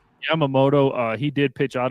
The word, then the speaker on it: Yamamoto: I'm going to screw Yamamoto. Yamamoto uh he did pitch out of his mind.